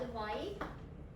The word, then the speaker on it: advise: advise, SEC. 둘 중 하나죠. 안 가르쳐줘. SE. C는 명사, SE는 동사. advise라고 발음해주세요.